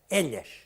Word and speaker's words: elas: É claro que este elas, a rimar com velhas, era a pronúncia castelhana, elhas.